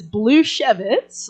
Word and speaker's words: Blusiewicz: So, it is Blue Chevz like Man of Chevitz wine gets better every year, you know.